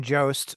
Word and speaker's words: Jost: do you say your last name Jo Shane Joost vocals for cognitive um I think recently signed